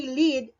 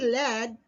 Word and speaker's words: lead: pronunciation so meaning changes for example the word lead so when you say lead it means today red he leads me while when you say led same was this same